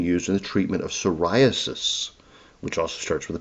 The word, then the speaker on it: psoriasis: it has been used in the treatment of psoriasis, which also starts with a P. Psoralen for psoriasis.